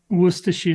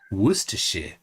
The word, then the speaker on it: Worcestershire: nerd says Tony say Worchester Shire sauce correctly Worcestershire sauce Worcestershire yes and and I think the other day